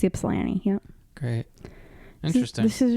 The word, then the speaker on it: Ypsilanti: How do you pronounce that? Ypsilanti. Ypsilanti. It's Ypsilanti.